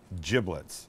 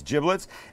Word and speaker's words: giblets: little bag this this is the bag of giblets and that's how it's pronounced not giblets it's giblets and in here would be liver would be